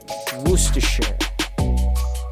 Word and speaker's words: Worcestershire: take out you actually take out the first r sound as you can see in the word and you go on straight to the rest of the word until you get to that shire sound at the end and you replace the i sound with a schwa and it leaves you with worcestershire can you say that